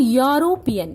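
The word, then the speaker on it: European: here I am writing यूरोपियन य इज a vowel no doubt इ तो vowel है बट साउंड यूरोपियन इसको जब हम प्रोनाउंस करते हैं तो वो साउंड कैसा करता है वाई so again I एम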